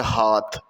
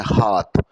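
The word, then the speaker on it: hearth: यहाँ पर मैं ये बात ज़रूर बताना चाहूँगा कि चूल्हे की इंग्लिश होती है हाथ। जैसे ये हाथ है, इसी तरह आप इस वर्ड की प्रोनाउंसिएशन है हाथ।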